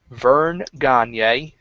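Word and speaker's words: Verne Gagne: Queen Sherry back in the day, Tony Atlas, Vern Gagne, and that's how it's pronounced, William the Refrigerator Perry, who was the celebrity inductee.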